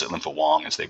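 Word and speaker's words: Linfa Wang: much you know utmost confidence that was uh lympo Wang as we pronounce it lymp Wong as they pronounce it responsibility he is um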